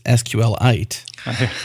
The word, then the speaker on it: SQLite: use case then for I'm going to say it like uh like Richard hip says which is sqlite uh I'm not sorry to correct you guys on that because that's what he said sqlite he's not here right